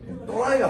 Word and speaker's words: 또라이: 그러니까 내가 그 도라이가 아니구나. 발음을 정확하게 해주세요. 또라이가 아니고.